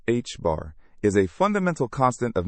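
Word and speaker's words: ħ: The symbol t pronounced hb bar is a fundamental constant of nature called the reduced plank constant.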